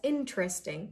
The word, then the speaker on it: interesting: Hey, that's interesting, not interesting. Don't break it in too many pieces. Interesting. Just say it in one go.